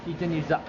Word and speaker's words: Chichen Itza: Chichen Itza. Chichen Itza. It's like a chicken. No. Chichen Itza. I know, everyone here is like, it's like chicken pizza. I'm like, no, just make us say it right, you know?